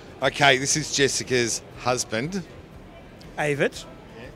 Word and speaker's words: Evert: Evert. Yeah. Spell it.